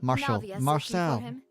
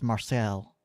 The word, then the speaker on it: Marcel: please let him know Marcel Marshall sure pronunciation is Marcel uh uh Navia hello